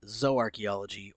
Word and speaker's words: zooarchaeology: might ask what is zo archaeology for those that are listening and not reading along it's spelled zoo and archaeology together but it's pronounced zo archaeology or zo archaeologist all